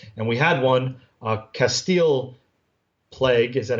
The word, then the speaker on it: plage: And we had one, Castile Plague, is that how you say it? Castle Beach, right across plage. From our hotel. So it's plage, so it's Castile Plage?